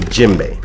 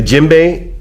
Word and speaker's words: djembe: to you a lot about is called the djembe now the djembe is spelled d je e em b e this